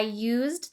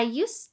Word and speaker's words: used: However, when this word is a part of the phrase used to, the final D sound is dropped.